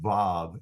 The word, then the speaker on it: vav: Therefore, modern Hebrew calls it vav and pronounces it as a V.